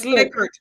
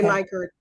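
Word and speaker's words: Likert: so lier I believe okay liquor is it liquor it's liquor it's liquor it's not Li liquor and not lier no okay I used to say lier it's liquor okay my methodologist says lier so that's why I was questioning no it's Li liquor okay lior l i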